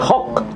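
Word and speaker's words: חג: Lehok Shem disebut ibadah haji namanya Hok. Jadi kalau kita menyebutnya haj, artinya haji. Haj kalau bahasa Ibraninya hok.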